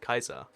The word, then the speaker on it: Caesar: yeah you know Julius Caesar fun fun fact by the way his last name is pronounced Kaiser most people get that one wrong yeah one toy cat